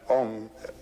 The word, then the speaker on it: Om: And Om, it's a wonderful word. It's written A-U-M. You start in the back of the mouth, ah, and then oo, you fill the mouth, and closes at the mouth.